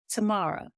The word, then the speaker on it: Tamara: But she pronounces her name Tamara.